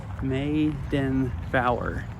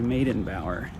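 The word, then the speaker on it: Meydenbauer: Oh, Maiden Bower. Like Eddie Bauer. Okay, Maiden Bower.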